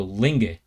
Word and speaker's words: Linge: pronounced her last name Ling like sing and then the E on the end sounds like the e in egg so Ling all right uh Hallelujah